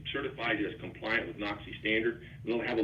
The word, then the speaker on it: NOCSAE: He is the executive director of NOXI. And if you go look for NOXI's website, it's spelled NOCSAE, NOCSAE.